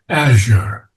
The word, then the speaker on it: azure: And the preferred pronunciation is azure, not azure. Azure. Okay. Azure. Azure, yes, Azure. Okay. that's the preferred. Secondarily, it could be azure, but here it fits better in the pentameter Mhm.